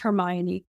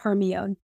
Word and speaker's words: Hermione: me until that long to realize Herm it's pronounced Hermione and not herion because I was not familiar with to many